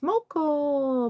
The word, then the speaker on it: Moco: It's Moco. By the way, I don't mind how it's pronounced, but it's just Russian Ukrainian for mocha. Like the coffee.